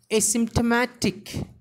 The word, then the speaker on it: asymptomatic: Here the stress is given on very first syllable as well as on ma syllable.